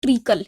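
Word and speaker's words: treacle: इट ट्रिकल bulk इसका spelling जो रहता है वो टी आर ई ए सी एल ई इसका जो प्रोनंसिएशन है वो क्या है ट्रिकल है तो शीरा को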